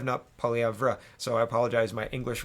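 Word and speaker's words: Poilievre: little bit of hot water here uh pierre polyev and i've been getting his name wrong so thank you for correcting me in the comments pierre pauliev nope polyavra so i apologize my english reading is is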